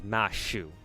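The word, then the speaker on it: マシュ: Uh, but in JP obviously the Japanese language they they don't have the the the th consonant like pronunciation syllable pronunciation thing. Um, that doesn't exist in a Japanese language. So they have to pronounce Matthew as Mashu.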